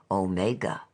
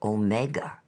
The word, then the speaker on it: omega: in reading the Revelation he ought to say omega as a Dactyl with the accent on the o or omega as two words if you understand me